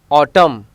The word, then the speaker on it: autumn: Letter N is usually silent after an M at the end of the word. Column, autumn, dam, ham. Here N is silent.